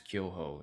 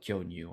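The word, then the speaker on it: 巨峰: that was serving these kyoho, and somebody asked, "Oh, do you like kyoho, Matt?" And I said, "Oh, yes, I do. Yeah, I like kyonyu. I like kyonyu." And I wasn't saying it correctly.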